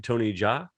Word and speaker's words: Jaa: Tony Jaa? Yeah. Is that how you pronounce it, Jaa?